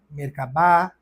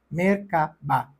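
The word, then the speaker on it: Merkaba: outras culturas como mercaba mercabá mer cavá existem diversas pronúncias mas geralmente a pronunciamos como se as três sílabas fossem separadas mercaba com tonicidade igual em cada um delas mercaba mer refere-se a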